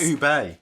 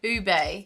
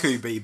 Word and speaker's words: ube: oh wait hold on we've been saying it wrong do you remember people are correct it's ube ube but i like that more i think i quite like ooby but ube is like